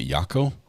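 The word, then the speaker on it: Jaco: to learn how to pronounce Jacko j-a-c-o um apparently she's the only one that knows how to pronounce it is a yako with like a y picky you missed you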